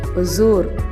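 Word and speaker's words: Hosur: ஹொசூர் அப்படின்னும் போது பார்த்தீங்கன்னா அங்கே ஹெச்சு சைலண்ட்டாக இருக்குங்க. ஹொசூர் அப்படி தான் சொல்லுவாங்க.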